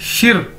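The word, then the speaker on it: 十: देखने में लग रहा है शी, लेकिन हमें इसको शी नहीं बोलना है, इसको बोलना है शिर, आर साथ में। देखिए इसको प्रोनाउंस करने का, बोलने का तरीका है शिर, समझ ले इसके साथ एक छोटा सा यहां पे आर है।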